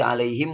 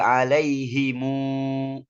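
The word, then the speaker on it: عليهم: Jumhur itu disukunkan apapun itu keadaannya, alaihim saja. Tapi Ibnu Katsir ya membacanya dengan domah musyabba'ah, diisba'kan. Dibacanya alaihimu waladhdallin.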